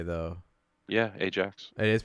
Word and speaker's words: Ajax: It looks like it's spelled Ajax. I know it's not pronounced that way though. Yeah, Ajax.